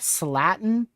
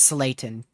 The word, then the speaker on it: Slayton: They're probably already sounding is that Slatin or Slayton? Is that an L? I think that's an L. I'm terrible with pronunciations if you couldn't tell. But yeah, still probably near 80 mile an hour winds, if not locally greater than that, ongoing. Just to the southeast of Roosevelt. I'll look up a pronunciation for it. So it is Slayton. Yeah, it's Slayton. Slayton.